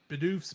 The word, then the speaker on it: Bidoof: That's how do you pronounce his name? Bidoof. Bidoof.